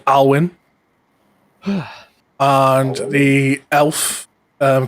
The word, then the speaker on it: Alwin: two students um the human looking one called alwin and the elf um called RoR and then